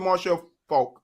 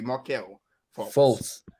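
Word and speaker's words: Markelle Fultz: Because look at Marshall Falk, or however you say, Markel Fultz.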